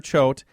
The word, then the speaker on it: Choate: he's a great joke it rhymes goat okay so if they're if they're searching for it online they can find it under heather Choate and it's seven secrets